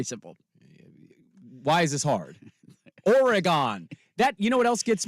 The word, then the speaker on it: Oregon: It's Oregon. Very simple. Why is this hard? Oregon.